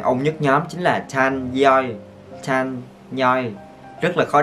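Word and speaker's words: Chanyeol: Chan Yeol. Các bạn phải đá N lên nha, thành là Chan Yeol.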